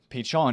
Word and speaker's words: Pichon: Pichon is pronounced with a silent N, just like you pronounce foot champion the French way.